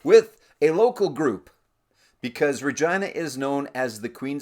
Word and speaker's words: Regina: We're going to start off with a local group, because Regina is known as the Queen City. Yes, it's pronounced Regina, not Regina.